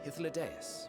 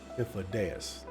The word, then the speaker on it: Hythlodaeus: Without further ado then, greetings, I am Hythlodaeus, Chief of the Bureau of the Architect. Hythlodaeus. Now I finally get a pronunciation.